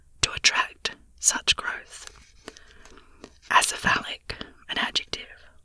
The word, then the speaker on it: acephalic: Acephalic, an adjective. 1, having no head, headless. 2, having no chief or leader. Acephalic with a stress, acephalic italic with a stress on the third syllable.